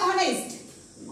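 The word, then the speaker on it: honest: word असं म्हटलेलं आहे आता समोरचा शब्द आहे ऑनेस्ट ऑनेस्ट ऑनेस्ट नाही बरं का ऑनेस्ट नाही ऑनेस्ट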